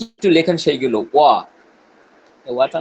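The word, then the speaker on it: は: হা, এবং উচ্চারণ হবে ওয়া। এটা আমরা হা আচ্ছা, লিখছি অ্যালফাবেট, কিন্তু যখন সে পার্টিকেল হিসেবে বসবে তখন হা না হয়ে উচ্চারণ কি হবে? ওয়া। ওয়া।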